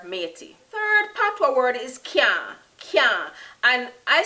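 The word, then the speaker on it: caan: Third Patois word is can. Can. And I spell that C-A-A-N.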